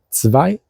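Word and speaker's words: zwei: O sea, 2 suena interesante. 2 se escribe con Z y luego con W, V, doble. Y bueno, EI. 2.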